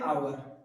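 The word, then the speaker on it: hour: हो जाएगा ठीक है इसको हम पढ़ते आवर इसको पढ़ते आ एच साइलेंट मोड में रहता है ठीक है व बेचारा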